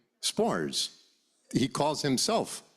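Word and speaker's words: Sborz: o r z but we all call him spores he calls himelf spores but you call him subor subor yeah right read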